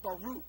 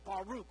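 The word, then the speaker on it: בָּרוּךְ: this word blessed in in the Hebrew it's pronounced Baruch can you guys say that Baruch one two three Baruch yes a wonderful rolls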